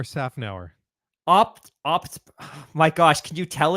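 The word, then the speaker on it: Szafnauer: we shared a comment from Otmar Snafnauer. Did I say Yep. that right? Did I? No, you did not. Oh, please, you go. Try it. How do you say it properly? Otmar Safnauer.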